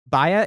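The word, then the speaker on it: baie: It's spelled Baya is spelled B-A-I-E.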